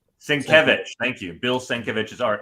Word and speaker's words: Sienkiewicz: Sienkiewicz. Sienkiewicz.